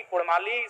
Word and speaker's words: कुड़माली: क्योंकि कुड़माली साहित्य की बात करें तो अड़ का महत्वपूर्ण